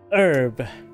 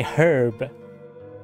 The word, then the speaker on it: herb: It's the word herb, H-E-R-B, and there's people say herb, and I used to pronounce herb, and then people say no, it's herb, H is silent. So, and then I know that either way it's fine. don't, I'm just want to point it, I know, it's like, which is the way, the correct way, to be fair. Herb is how you say it.